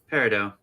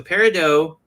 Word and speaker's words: Peridot: Peridot. It's like bread. Got it. It's like French. Dough.